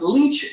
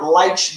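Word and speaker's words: Leitch: appreciate you um oh David leech's name is pronounced leech not lch the eye threw me off David Leech is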